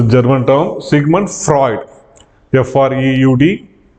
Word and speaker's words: Freud: German term Sigmund Freud f r e u d we need to pronounce that as Freud segment Freud so first